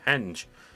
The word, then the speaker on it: henge: the middle of it known as the henge not the hinge as i thought it was originally pronounced then again i have